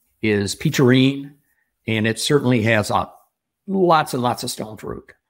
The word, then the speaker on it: Peacherine: Yeah, Peacherine? Like peach. Peach, E-R-I-N-E.